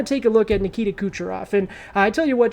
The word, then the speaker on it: Kucherov: i don't have nikita kucherov that's because famously the announcer butchered it and said dimitri kucheroff on the on the call